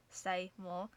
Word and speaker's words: Seymour: The strongest tornado of the April 27th to 30th tornado outbreak was an F3 which struck Seymour, pronounced Seymour, Texas.